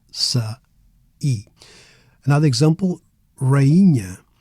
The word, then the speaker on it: rainha: Another example, rainha. Here, the I becomes its own syllable, rainha, queen, instead of rainha, rainha.